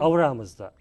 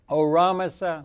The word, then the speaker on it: Ahura Mazda: Ahura Mazda. Ahura Mazda. Ahura Mazda.